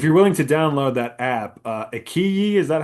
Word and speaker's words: iQIYI: willing to download that app, Ikiyi, is that how you pronounce it?